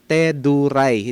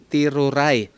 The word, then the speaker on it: Teduray: ng mga teduray ha ang pronunciation mga kaibigan teduray hindi tiruray okay Ah yan kasi ang